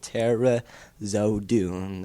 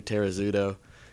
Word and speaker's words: Terezodu: up with them it's just simple it's Terra zodu that's all hooked on fonics exactly it's just simple